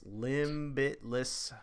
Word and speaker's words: Limbitless: limb bliss limit limitless it's like spelled like limb it's hard to say it's limbitless for Halo theme prosthetics